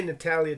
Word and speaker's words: Natalia: oh i'm sorry i'm i've been mispronouncing your name miss natalia not la natalia okay natalya taylor that's easier to say sorry i [ __